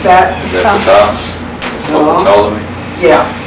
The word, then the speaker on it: Ptolemy: Some of these words, I am having trouble getting the pronunciation of P-T. What's that? Is that Ptah? No. Ptolemy? Yeah. Ptolemy.